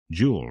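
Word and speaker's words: Joule: changed my name today it's Jewel from now on that's spelled j-o-u-l-e okay Jewel nothing for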